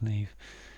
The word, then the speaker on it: Niamh: So we've got a hidden word here of Niamh, which I believe, but I may be wrong about this, is Neve. It's pronounced Neve, and that's a girl's name.